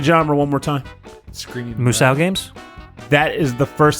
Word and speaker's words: Musou: could be some GIF or GIF scenario where it's like, because that's pronounced Uso. Yeah, the M is silent.